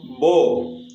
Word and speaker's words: beau: இதை எப்படி நம்ம ப்ரொனவுன்ஸ் பண்ணணும், போ போ போ போ அப்படின்னா என்ன மீனிங் அப்படின்னு பார்த்தீங்கன்னா ஹேண்ட்ஸம் அப்படின்னு அர்த்தம்.